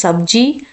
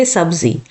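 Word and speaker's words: सब्ज़ी: So many just think what is the pronunciation like here, z or j. So in India we do not, it will not matter that much. We say sometimes sabji, sometimes we say sabzi.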